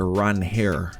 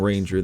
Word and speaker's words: Ranger: Ranger Suárez would be Well, actually we I think we just learned today he actually pronounces it Ron Hair. I'm too ingrained in saying Ranger, though.